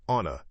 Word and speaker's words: on the: The, t, in, fence is crisp, but on the becomes onna in fast speech. So I'm on a fence about it.